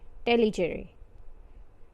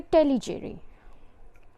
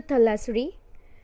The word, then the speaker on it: Tellicherry: cozy Cody to Tellicherry Tellicherry okay there right now this country the city is pronounce it in a different way it's called as a telly cheering it's a Tallis REE Tallis array so shoe body is